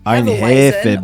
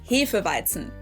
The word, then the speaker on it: Hefeweizen: Most people here in the US say Hefeweizen or Hefeweizen maybe. Well, in German, we pronounce this word Hefeweizen.